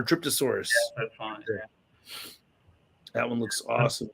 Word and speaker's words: Dryptosaurus: the dryptosaurus oh dryptosaurus I'm reading that as an a it's an R dryptosaurus that's that one looks